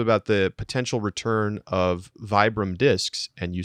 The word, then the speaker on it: Vibram: got an email and it's also vibram because it's an italian company which like duh i knew this and so bieber is a totally acceptable pronunciation and vibram is also sort of the commonly used american pronunciation but technically josh you